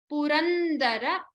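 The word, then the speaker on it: पुरन्दर: Virinchi, sura, sauhati, purandara, stress on the da.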